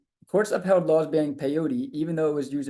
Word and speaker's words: peyote: For example, it looks like it rhymes with coyote. Courts upheld laws banning peyote, even though it was